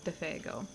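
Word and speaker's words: Défago: Good luck, Monsur Defego, he added fastitiously, giving the name its French pronunciation for once.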